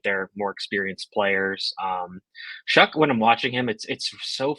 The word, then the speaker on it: Shough: okay uh so anyways Tyler shuck um that's not how his name looks at all we talk about